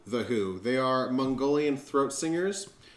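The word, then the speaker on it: The Hu: Mine is, it's spelled H-U, The Who.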